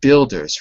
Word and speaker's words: builders: is just the word Builders remember the U build yes the U is silent the U is silent